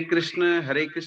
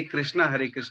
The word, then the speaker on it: कृष्ण: बोलते हैं, या हरे कृष्णा बोलते हैं प्रभु जी? देखिए, स्पष्ट उच्चारण तो यही है, हरे कृष्ण कृष्ण कृष्ण हरे हरे, हरे राम राम राम हरे हरे।